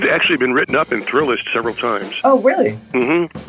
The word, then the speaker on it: Thrillist: It's Thrillist, like a roller coaster thrill, and you're writing a list.